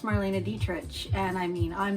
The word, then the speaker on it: Dietrich: Marina Dietrich and I thought it was Marina Dietrich but Aaron Parsons said it's pronounced Marina detr and I mean I'm not even going to